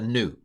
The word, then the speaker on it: nu: like a V it's a n it's a new new the knights that say new uh I'm going to pronounce it like an x uh Omicron or